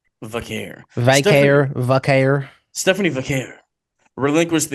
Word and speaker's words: Vaquer: Vaquer. Vaquer. All the white people say 20 different ways. It kind of pisses me off. Just say Vaquer without the O. Vaquero without the O. Vaquer.